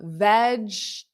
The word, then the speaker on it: vegetables: as well vegetables yes it's not veg vegetables V there that second e is not not there so v v so that t for tubles and notice it's not tables you know that you know that it's t so that that a sound is the unstressed so it's uh veg so repeat after me